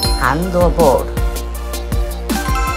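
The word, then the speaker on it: 送球: 正解はハンドボール、送球と読みます。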